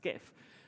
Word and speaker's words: GIF: If I'm going to be controversial here, like GIF, nobody says GIF, that's ridiculous. It's pronounced GIF.